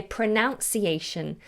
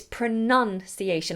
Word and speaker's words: pronunciation: to the word pronounce so they say pronunciation which is wrong and it drives me insane it's not pronunciation its pronunciation like a nun ah pronunciation and many